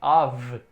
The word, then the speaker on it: of: que o alvo aqui com um f só tem som de ver na verdade a vi a vi obtenção df